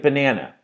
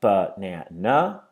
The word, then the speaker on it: banana: Let's look at banana. So there we have banana. The third one, we know that the middle syllable is stressed, so we take all of